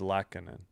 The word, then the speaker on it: Lehtonen: I'm not confident in Lehtonen. Lehtonen. Okay, I got to emphasize the Leht. It is Lehtonen.